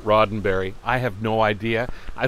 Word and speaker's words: Roddenberry: a trekkie one time who insisted that gene roddenberry pronounced his name rodenberry not roddenberry i have no idea